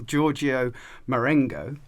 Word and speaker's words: Giorgio Marengo: And I have to say, I'm going to question my pronunciation here, but we are joined by Cardinal Giorgio Marengo.